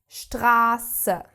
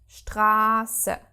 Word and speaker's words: Straße: So double S and SZ are pronounced S, like a sharp English normal S. Okay, the one thing that changes though is the vowel that precedes. So, if we have a double S after a vowel, the vowel is pronounced short. If we have this SZ after a vowel, the vowel is prolonged.